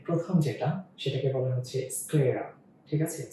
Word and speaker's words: স্ক্লেরা: এখানে এই প্রোনাউন্সিয়েশন গুলো একটু অন্যরকম হয়ে যায়, কারণ যুক্ত বর্ণ তো। তো এটা যখন পাওয়ার পয়েন্টে চলে আসে তখন এগুলো আজীব টাইপের হয়ে যায়। এটার অ্যাকচুয়াল বানানটা হচ্ছে এরকম, অন্তঃ স, তার নিচে ক, তার নিচে ল, স্লে, তারপরে হচ্ছে রা। ওকে, স্ক্লেরা।